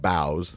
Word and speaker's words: Bao: they have these um they're called bows and they're I think it's spelled Bao yeah but I I